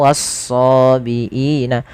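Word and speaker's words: والصابئين: Kemudian lafal wasobiina. Kedua-dua alif lam pada lafal wan nasara dan wasobiin adalah alif lam syamsiyah yang dia ditulis tapi tidak dibaca.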